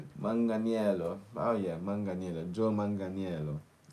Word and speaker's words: Manganiello: We are looking at how to pronounce the name of Joe as Italian. If we were lost Manganello. Manganel. Manganello.